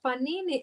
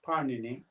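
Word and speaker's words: Pāṇini: Parnini, I should pronounce it correctly. His name is Parnini. Parnini, yeah, not Panini. Panini means little bread rolls.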